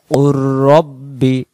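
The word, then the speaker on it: قُل رَّبِّ: আবার কুর রাব্বি, কফ লাম পেশ কুল এখানে উচ্চারণ হবে না, কফের পেশটা এই তাসদিদওয়ালা র অক্ষরে যাবে, এখানে তাসদিদের অক্ষর বড়।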